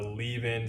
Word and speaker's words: leaven: You're gonna make what's called a leaven, not like the number 11, but a leaven, some people call it, or levain. It just depends how you pronounce it.